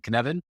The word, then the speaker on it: Cynefin: And it's a Welsh word, and that's why it's spelled, that's why it sounds like Cynefin.